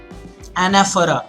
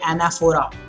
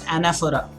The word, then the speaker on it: anaphora: Anaphora, and that's how you pronounce it. You don't say anaphora, it's anaphora.